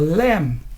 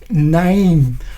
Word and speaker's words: name: And if you say it like some non-native speakers, they will say it like, what is your lamb? That is very wrong because there's no nasal sound here, the sound through your nose, name, not lamb.